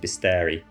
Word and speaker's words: bestiary: I always want to say beastary, but I think it's pronounced bisteri.